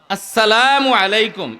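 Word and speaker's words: السلام عليكم: আসসালামু আলাইকুম ওয়ারাহমাতুল্লাহ। সালামটা শুদ্ধ করে বলতে পারি আমরা? বলেন তো একটু। আসসালামু আলাইকুম আবার নির্বাচনের সালাম দিলে হবে না সালাম সালামু এরকম সালাম না আসসালামু আলাইকুম স্পষ্ট করে আপনি যদি এই শব্দটাকে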